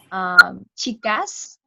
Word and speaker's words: chicas: Yeah, and the funny thing is that they don't pronounce S in the end. For example, chicas, they would pronounce chicas as chica.